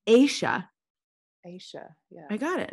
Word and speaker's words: Ayesha: Ayesha.